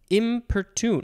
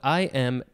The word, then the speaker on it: importune: beseech implore supplicate adjure impertune no what this word goes over the second line importune that one is spelled i-m-p-o-r-t-u-n-e importune so all of those